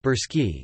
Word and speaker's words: Bulgarian: Bulgarians listen Bulgarian Blonsky Bal Gorsky pronounced burski is an indo-european language a member of the